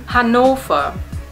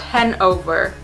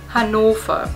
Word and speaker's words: Hannover: mention Wolfsburg and the next one hanova not Hanover hanova yes our V sound like fs and v's and W's